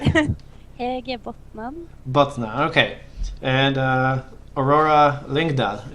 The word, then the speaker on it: Hedje Botnan: Hedje Botnan.